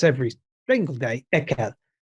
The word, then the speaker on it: Ekel: A classic is disgust, and the German word I mispronounce every single day, ekel, ekel.